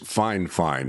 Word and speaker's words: FiFine: The company's name is Fine Fine. Now, it's spelled F I F I N E.